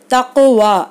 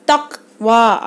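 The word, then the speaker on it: تقوى: இதை அசைக்காமல் உச்சரிக்கணும்னா தக் வா அப்படின்னு ஓதணும். ஆனால் தக் வா அப்படின்னு ஓதுறது வந்து தப்பு.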